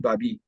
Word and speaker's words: Baby: To be honest, I have heard Baby Street and Baby Tavern, but the old pronunciation is still there, and that's how it's pronounced in Old French, Babi.